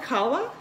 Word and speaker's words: challah: do you stall the name of this bread it's spelled kala ch a ll aah and in the description